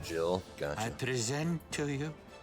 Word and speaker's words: Jihl: pronounced Jill.